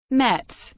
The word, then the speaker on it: Metz: Mets German pronunciation MTS is a city in northeast France located at the confluence of the Moselle and the Severs.